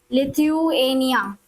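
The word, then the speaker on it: Lithuania: लिथ्व थुएनिया okay तो जभी भी कभी भी प्रोनाउंसिएशन में दिक्कत हो तो उसको ब्रेक कर लेना चाहिए राइट लिथनिया एक ये हो गया और दूसरा हो गया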